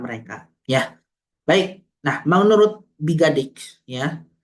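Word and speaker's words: Biggadike: Nah, menurut Bigadik, ya, Bigadik atau Bigadike dibacanya seperti yang dikutip oleh Ciptono, mengidentifikasikan bauran pemasaran yang dilakukan oleh perusahaan letter entrance.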